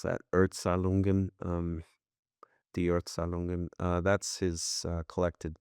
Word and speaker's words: Erzählungen: That's Kafka's, how would you pronounce that? Erzählungen, Die Erzählungen.